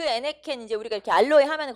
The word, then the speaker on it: 에네켄: 그래서 요 멕시코나 쿠바에서는 요 에네켄 농장이라고 하는데, 애니깽이라고 해서 우리나라 사람들 발음하기 어려우니까 애니깽.